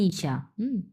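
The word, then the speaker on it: 一下: মানে টু ASK when ইশা ইশা এটা দুই নাম্বার টন এটা চার নাম্বার ইশা মানে হচ্ছে একটু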